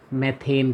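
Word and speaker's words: methane: CH4 जानते हैं, हम पढ़ा है कई बार, क्या नाम होता है इसका, मैथेन कहते हैं इसको, मैथेन, मीथेन, कुछ भी कह सकते हैं, मीन्स स्पेलिंग सही होना चाहिए।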